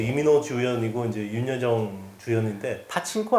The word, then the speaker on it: 파친코: 빠친코 이제 이민호 주연이고 이제 윤여정 주연인데 파친코 아니야? 빠친코. 빠친코라 그래? 원래 빠친코죠. 빠친코. 이거 일본식 발음이잖아.